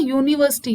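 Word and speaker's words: university: लेकिन यहाँ पे इसका जब हम प्रोनाउंसिएशन करते हैं, इसको बोलकर देखते हैं, तो इसका साउंड क्या निकलता है? यूनिवर्सिटी, यानी या का साउंड क्रिएट करता है।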